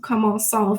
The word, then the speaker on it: commençons: You want to have an accent cédile on the C to make it a soft C sound. So in order to make nous commençons, if we're using commencer, which means to start, nous commençons, in order to have the C a soft C sound, we have to add an accent cédile to the C.